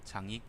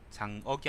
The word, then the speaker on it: 장익: 그다음에 등지 장익 장억이 아닙니다. 장익입니다.